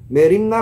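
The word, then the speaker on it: μέριμνα: Kekhawatiran diucapkan merimna merijo dalam bahasa Yunani.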